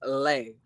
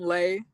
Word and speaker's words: Lei: my name hey Jeremy my name is pronounced lay okay no problem Lei thank you for telling